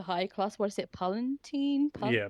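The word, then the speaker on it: Palatine: Palentine. Pal. Yeah. Pal Palentine. That's how they say it in the in the audio book at least.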